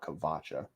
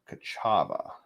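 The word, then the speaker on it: Ka'Chava: hu and K kacha kachava not kavacha kachava wrote that down too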